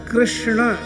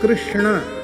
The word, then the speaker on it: कृष्ण: राम को हिंदी कहा कृष्ण यह शुद्ध उच्चारण प्राय कम लोग करते हैं कृष्ण यह सही उच्चारण पर प्राय इतनी